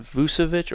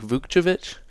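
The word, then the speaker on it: Vukčević: upside picks uh and tristanovic I think is how you say it not vucevic or vujovich it's like vukjevich and balakulabali I like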